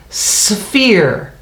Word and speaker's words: sphere: how we talked about sometimes pH makes the F sound and sphere it does if you take the S off it says fear fear when you put the S on it it says sphere sphere and a sphere